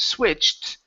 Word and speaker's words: switched: a tea sound they're switched on switched on the television switch on the television ok almost so this ed has to be pronounced like a tee t swift there you